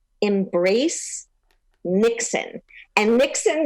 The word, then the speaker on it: Niksen: I had to set you up for that, but this Nixon is a different type of Nixon. Okay. It's a Dutch idea, right. And it's spelled Niksen.